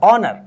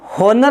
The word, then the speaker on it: honour: इसी प्रकार से अगर मैं कहूं HONOUR, ऑनर, तो इसको हम होनर नहीं बोलते दोस्तों, ये हो नहीं है, ये ऑनर है।